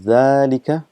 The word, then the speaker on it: ذلك: just reminding you that it is pronounced as zalika but this alif is omitted because of constant usage and it's written as